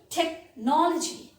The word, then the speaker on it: technology: is a school school technology technology against ch here you can see ch is pronounced as curve technology this modern technology has